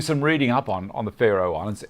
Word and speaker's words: Faroe: Do some reading up on the Faroe Islands. Faroe, I think is how you pronounce it. I started Pharo, like Pharaoh from Egypt, and I thought, well, I can't find them.